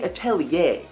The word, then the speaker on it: Atelier: call it that is officially called Art Academy atellier and yes that is how you pronounce it I looked it up but what